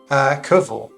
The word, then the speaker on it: Cwfl: How do you pronounce CWFL? Koval.